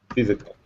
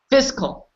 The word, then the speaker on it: fiscal: yeah that's I so some people pronounce it physical physical well you know usually you just go fiscal his call okay they say the physical year don't not say physical year ever say that fiscal here what does it mean